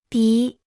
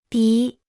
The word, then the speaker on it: 笔: 笔、笔、笔、笔、笔、笔、笔、 Se pronuncia con el tercer tono.